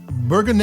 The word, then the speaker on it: Bourgogne: Bourgogne is, and it's spelled here Bourgogne. That's how the French pronounce and spell the region.